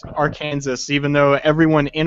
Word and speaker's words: Arkansas: chat okay ask me now how do you pronounce Aran Aransas see we AJ thought it was AR Kansas and everybody that I know internationally always says that it's AR Kansas even though everyone in in Arkansas pronounce this is Arkansas no Ians I know